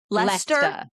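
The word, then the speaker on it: Leicester: It's L E I C E S T E R. And you're saying that's what Lester So, I feel like that's your that's your fault.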